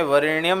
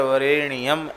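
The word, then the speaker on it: वरेण्यम्: और जप के समय वरेण्यम न बोलकर वरेण्यम ऐसा बोलें।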